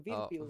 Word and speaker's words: Virpil: Virpil.